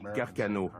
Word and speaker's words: Carcano: On prononce Carcano.